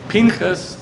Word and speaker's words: Pinchas: Pinchas is Phineas is the way it's pronounced in English.